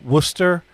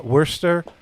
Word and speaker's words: Worcester: uh uh uh uh worcester uh wurster um call us the way it's spelled uh worchester right uh well i think it's technically orchestra uh well well i i